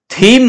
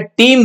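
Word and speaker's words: Thiem: एम, इसको क्या बोलोगे, थीम मत बोल देना इसको, एच साइलेंट है, टीम बोला जाएगा इसको, ध्यान रखना भाई, Dominic टीम, टी आई ई एम मतलब एच साइलेंट है यहाँ पे, ध्यान रखना भाई।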